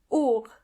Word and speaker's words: Uhr: Jacke The next word is Wolke Wolke cloud Uhr Uhr means clock and the H in this case is silent. Uhr And finally, Yoga just like the English version of the word.